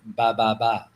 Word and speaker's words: ba ba ba: Vietnamese, it's actually pronounced ba ba ba.